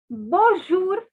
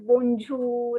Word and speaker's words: bonjour: is pronounced as bo this n has a nasal sound okay so the word is bonjour um it is not